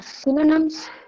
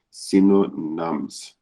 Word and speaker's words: synonyms: um so uh synonyms so one second so there's Y in there so you're right now you are seeing saying Sino nums try again synonyms okay so you think